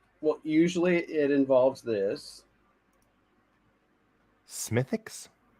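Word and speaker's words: Smithwick's: usually it involves this smithix don't pronounce the w we're gonna go down to the pub and have a smithix all right that's that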